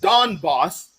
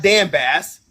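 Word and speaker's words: Donbas: you didn't even know what the and it's pronounced Don boss not Dan Bas you didn't know what the Don boss region was until you heard it in a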